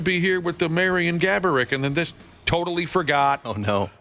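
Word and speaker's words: Marián Gáborík: Gaborik, of course, is the real pronunciation, but Josh's uncle liked to make up different pronunciations.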